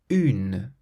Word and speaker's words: une: Un, une, une. So un has an N at the end, but then une has a vowel after the N, so there's no nasal sound.